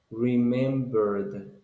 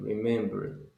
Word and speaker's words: remembered: see remembered okay so the pronunciation is remembered with D at the end remembered good next one candy